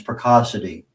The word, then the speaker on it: Precocity: So for our audio audience, Picassity P R E C Oci TY like Pico City if you we're not pronouncing it correctly.